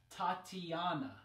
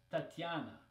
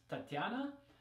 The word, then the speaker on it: Tatiana: like in English it's Tatiana right Tatiana Tatiana so in Russian it's not E right it's just this soft T and then yeah after so there's Tatiana okay it's a little